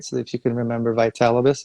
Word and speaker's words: Vitalibus: And one of the people said, well, how do you say the name? So we created it, Vitality Through Cannabis, right? So if you can remember Vitalibus, it's Vitality Through Cannabis.